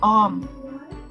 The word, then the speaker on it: Ohm: kartunnya on hambatan bukan hanya banyolan atau dibaca Om ya bacanya ya combo2 om tambah 4 om tambah